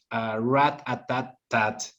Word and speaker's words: Rat-A-Tat-Tat: So now let's talk a little bit about Rat-A-Tat-Tat. Did I say it right? You did. Okay, I had a hard time saying that word.